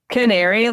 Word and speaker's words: Canaery: Canaery, like canary in a coal mine.